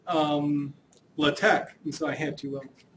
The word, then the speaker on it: LaTeX: um doing an introduction to latch notice I pronounced it as latch not lat latex it is actually pronounced latte uh I remember